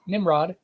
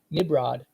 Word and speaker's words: Nimrod: So if you say it fast, Nimrod, it sounds like a B. Nimrod. That over time they pronounced it so fast they thought that it was a B instead of an M.